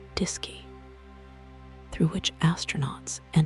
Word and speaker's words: DSKY: Fact number 74 is that the Apollo guidance computer used a display and keyboard called the DSKY pronounced disy through which astronauts entered commands and received information about the spacecraft's systems and trajectory.